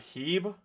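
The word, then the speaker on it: H-E-B: The way you pronounced Heb was funny. Is it like Hebe? I'm from the middle of America in Missouri, so Midwest. That's what they call it. Modoc. I'm just gonna venom Modoc because why not? From Houston, Texas, it's pronounced Heb.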